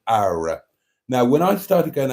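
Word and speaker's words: Qawra: it's in a place called ARA which it's pronounced ARA it's spelled q a w a it's pronounced ARA and I stay in a hotel called the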